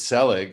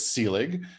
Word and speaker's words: Selig: I totally forgive the mispronunciation of my name, because it's actually the second most common. It's the most common mispronunciation of my name, and people have mangled it in so many more worse, horrid, and offensive ways that if someone says Selig, it's really no big deal. It's Selig, but Selig I get